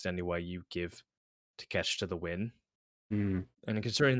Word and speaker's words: Takeshita: and gave uh fucking how do you pronounce his name? Takeshita. Konosuke Um Takeshita. It's a bit of a mouthful. Takeshita yeah. If they gave him the win, Or as Jim Cornette calls him, take a shit.